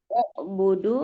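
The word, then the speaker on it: اعْبُدُوا: Audu sembala uudu dibacanya budu. Ubudu. Iya. Huruf ketiganya u berarti dia dibacanya u. Oh.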